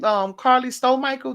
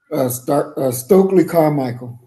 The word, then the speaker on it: Stokely Carmichael: Carly Stowe Michael. Did I say it right? Stokely Carmichael.